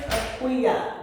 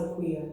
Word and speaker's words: Akua: Empress Akua. That's how it's pronounced. Empress Akua. My mother named me, and I wish she would have named me Sila. So it's not Akua. Akua. It's pronounced Akua, but everybody says Akua.